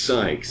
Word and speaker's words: Sykes: with the sky but my name is Sykes it's sy que es Sykes it's Sykes man everybody gets it wrong